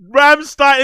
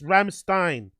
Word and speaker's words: Rammstein: But Ramstein.